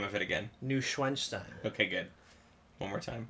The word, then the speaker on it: Neuschwanstein: Neuschwanstein.